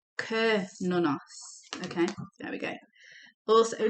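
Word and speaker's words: Cernunnos: We did look at the book at Sir Nonos. Let's have a look what it says here. Oh, it says it's pronounced Kernonos.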